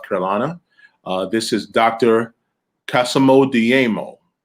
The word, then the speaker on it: Dayemo: Kassamo Dayemo. Am I pronouncing that right, sir? Yeah, Dayemo, yeah. Dayemo, very, very good.